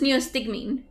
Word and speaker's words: neostigmine: pronounce it music mean neostigmine neostigmine neostigmine okay this is how my friend says it neo-stigmine or neostigmine because it's a medicine perhaps